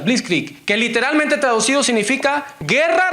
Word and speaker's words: Blitzkrieg: no me cuesta pronunciar pero es blitzkrieg así se pronuncia please click que literalmente traducido significa